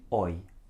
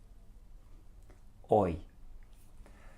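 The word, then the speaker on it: hoy: repeat it after me oi oi now the person right at the back I heard you pronounce the H you don't pronounce the H it's oh boy so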